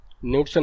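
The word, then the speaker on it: Knudsen: तो देखिए लिमिट कैसे डिसाइड की जाती है, उसके लिए एक हमारे पास होता है न्यूडसन नंबर, न्यूडसन नंबर के जो होता है इसका क्या होगा, साइलेंट होता है।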